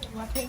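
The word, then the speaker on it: waakye: What do you pronounce this? Wachi or Waki? Waki.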